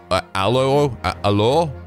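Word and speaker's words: alors: Like A-L-O-R-S, it looks like it says allures, is actually just allo, I believe. Like, I don't even know if you pronounce the S, maybe not even the R, I'm not sure.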